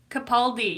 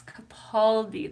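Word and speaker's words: Capaldi: Kapaldi. Yes, Kapali. That's how it's pronounced.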